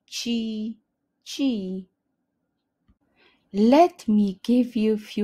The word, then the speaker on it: ci: videos thank you again the best way to pronounce the chi sound in Polish is simply to say it as the English chi chi let me give